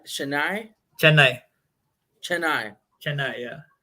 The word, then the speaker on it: Chennai: a place called how do you say it's Chennai Chennai Chennai Chennai yeah Chennai how is life back home in India and